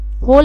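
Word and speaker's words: whole: Next है होल month. W एच ओ एल इ होल एम ओ एन टी एच यहां पे W silent है।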